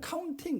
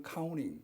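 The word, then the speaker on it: counting: 우리는 카운팅 그러지만 미국 사람들은 카우닝 이렇게 발음을 하니까 그걸 이제 배워야 돼.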